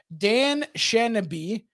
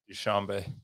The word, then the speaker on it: Dushanbe: Pronounce this for me. Dan Shanaby. I've never heard of this place in my entire life. Dushanbe.